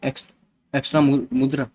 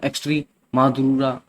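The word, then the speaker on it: Extremadura: Sorry, मैं माफ़ कीजिएगा, थोड़ा इसको अलग तरीके से प्रोनाउंसिएशन करेंगे, ट्राई करते हैं। एक्स्ट्री मधुरा, है ना, स्पाइया जैसे लिखा हुआ है स्पेनिश में, ऐसे ही इसको करेंगे।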